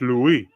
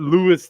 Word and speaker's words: Louis: Yeah, in French. Louie, it's not Lewis the Oh man.